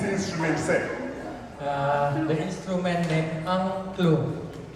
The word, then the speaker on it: Angklung: The instrument named Angklung. A-N-G-K-L-U-N-G. Angklung. Too easy to pronounce is like put 3 A in the front and 3 O in the middle.